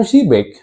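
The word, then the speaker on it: Przybek: Ya, gua dengarnya Adam Shibek ya. Dibacanya Adam Shibek itu adalah salah satu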